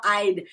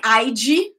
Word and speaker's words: I'd: I travel now, I'd. Guys, it's not like IG, right? It's not like strong, like IG. And it's not just I, it's I'd. It's very subtle, but we have the D.